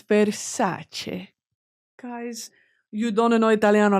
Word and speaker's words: Versace: And you want to know it's not Versace, it's Versace.